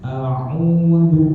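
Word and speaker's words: أعوذ: Kebayang ya, a'udzu hamzah ain dal ya, a'udzu kayak gitu baca ya.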